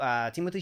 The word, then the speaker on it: Timothée: It's not pronounced Timothy. It's pronounced Timothée Chalamet. Something like that, but then think about someone saying that in with a French accent, and that's how it's pronounced.